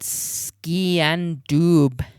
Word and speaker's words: sgian dubh: It's spelled ski and doob.